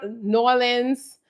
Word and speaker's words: New Orleans: New Orleans, she's like, "It's not New Orleans. You're pronouncing too many of the letters."